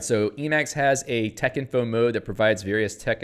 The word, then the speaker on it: Texinfo: to be useful spell tech info with a capital t uh this first syllable is pronounced like spec not hex the odd pronunciation is